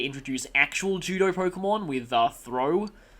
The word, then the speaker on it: Throh: Which is kind of funny considering that they would later introduce actual judo Pokemon with Throh, or as I used to pronounce it, Throch, in Pokemon Black and White.